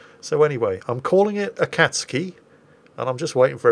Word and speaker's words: Akatsuki: torpedo boat destroyer the akatsuki there you see i can pronounce it properly i just have to remember to not stress the u although it occurs to